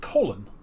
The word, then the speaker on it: Colin: of state colin powell but he pronounced it colon like colon but he was coli